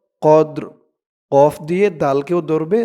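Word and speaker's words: قدر: ওয়ামা আদর কামা লাইলাতুল কফ দাল জবর কদ র জেরি কদর কদর এই যে এই শব্দটার উচ্চারণ যেমন হয়েছে এটারও একরকম কদর মা লাইলাতুল কদর ওয়ামা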